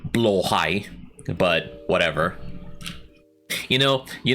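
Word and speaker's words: Blåhaj: so she so Rin always pronounces the Ikea shark as blahaj when it's supposed to be blow high but whatever you know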